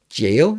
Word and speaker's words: Gaol: So into the Gaol Cave. Man, it has bothered me a long time that it's pronounced jail when it's spelled like that, but it is.